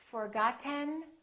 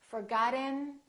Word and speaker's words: forgotten: sounds of American English I'm going to say one word three different ways and I want you to ask yourself which one sounds like an American accent listen carefully written written